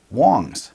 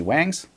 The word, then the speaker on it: Wangs: much here we go Wang's is actually pronounced Wong's it's the most common last name in China and the name of their creator so there you go it's not actually Wang's it's Wong's right so